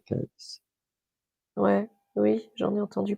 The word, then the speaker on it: Cayce: Alors, ça, je le prononce à la française. En anglais, on dit Casey, mais moi, je dis Edgar Cayce.